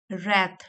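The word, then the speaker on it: wrath: दस इसलिए a natural disaster is explained in terms of God's रैथ W silent है इसमें तो इसलिए जब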